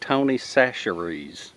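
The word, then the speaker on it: Tony Chachere's: somebody from Louisiana told me that this is pronounced Tony sasher okay and it's a creole cream sauce mix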